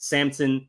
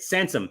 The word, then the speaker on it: Sansom: off of my phone Harriet Samson Harris uh sorry Harriet Sansom Harris uh so so well known that I mispronounced the name that is uh vusa